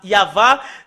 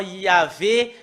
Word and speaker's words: Yahvah: Bah, ils se sont enlevés de l'original Normalement, ça doit être Yava qu'on doit le prononcer. Bah, ça a changé en Yahvé, Jéhovah ou Yahou. Bah, alors que ce sont